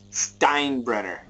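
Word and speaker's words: Steinbrenner: brard doesn't get it Stein brener T make sure time brener doesn't get it I know the E is first but the I is pronounced yes crazy English super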